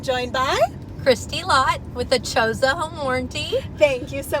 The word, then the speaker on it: ACHOSA: So, ACHOSA. A lot of people say it wrong. It's I ACHOSA you, you ACHOSA me. That's the easiest way to remember how to say it.